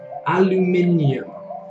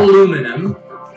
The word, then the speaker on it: aluminium: are the minions fantastic please please pronounce it that way I know it sounds a little bit silly as an American actor but I just I just can't stand aluminum aluminum foil it just doesn't sound good guys like I